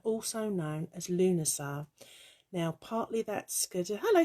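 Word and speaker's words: Lughnasadh: would try and spell lunasar um but it's really complicated it's something like l-u-g-h n-a-s-a-d-h but spellings and pronunciations do vary so if you get stuck lamas traditionalists might say oh it's lunasan all the rest of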